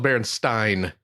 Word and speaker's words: Berenstain: It's the Berenstein Bears. Which we all grew up calling the Berenstain Bears. First of all, it's Berenstein. Stein. There you go. Yeah. We still grew up calling them Berenstain Bears, though.